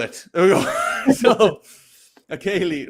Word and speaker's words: ceilidh: So the first thing we're going to talk about is that people have special parties called Ceilis, where people do Scottish country dancing.